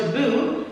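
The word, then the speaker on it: tabú: And the word for taboo in Spanish is taboo, with accent on the U.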